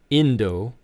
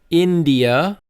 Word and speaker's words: India: Next, we have India, not Indo. So it's India, India.